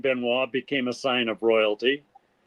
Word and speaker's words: Benoist: a sign of royalty s in the name benoa became a sign of royalty and the oit had to have an accent over the eye in order to be pronounced benoa okay wow history yeah I'm looking at the